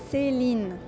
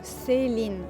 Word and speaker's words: Celine: And so you pronounce it Celine. It's quite soft, right? So Celine.